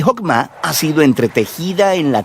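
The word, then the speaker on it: חכמה: En hebreo se pronuncia Jokmah, y usualmente se traduce al español como sabiduría. Es un atributo de Dios que Dios usó para crear al mundo, y Jokmah ha sido entretejida en la tela de las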